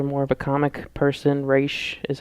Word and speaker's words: Ra's: If you watch the Nolan movies, Ra's al Ghul's daughter, or if you're more of a comic person, Raish is how it's pronounced.